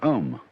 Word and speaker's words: Om: of course the sound ohm that sound is used because if you spell it out a u m it runs from the back of your throat to your lips and therefore it contains